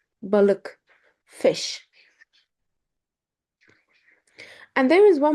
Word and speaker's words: balık: Balik is wrong. Balık. Balık.